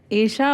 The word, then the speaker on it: ईशा: ईशा ही होता है नहीं है ईशा है ईशा और ईशा एक संस्कृत शब्द है ओके और उसका मतलब